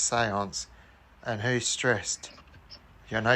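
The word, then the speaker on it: séance: it's not pronounced Stressed. It's pronounced seance.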